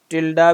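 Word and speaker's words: tilde: और ये मैं साथ साथ लिखता रहता हूँ, टिल्डे रिप्रेजेंट्स एम्प्टी लाइंस। ठीक है जी, इसको टिल्डा भी बोलते हैं, टिल्डे भी बोलते हैं, ये इट्स मैटर ऑफ प्रोनाउंसिएशन। अच्छा, अब इसमें ये जो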